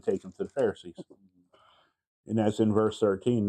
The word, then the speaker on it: Pharisees: Pharisees.